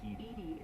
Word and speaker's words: EDI: why are you named edie is the phonetic pronunciation of edi that is an acronym for enhanced defense intelligence that's all for now